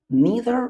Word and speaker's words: neither: What is the difference between either or and neither nor? First of all, let's talk about the pronunciation of those two words. Should I say either or either? Neither or neither? Both of them are correct.